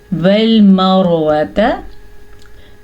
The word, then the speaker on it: وَالْمَرْوَةَ: الف مدہ، والمروۃ، والمروۃ، را کے اوپر زبر یا پیش ہو تو را پر ہوتی ہے جیسا کہ آپ کو معلوم ہے، اور را کے نیچے زیر ہو تو را باریک پڑھی جاتی ہے۔ لیکن اگر را ساکن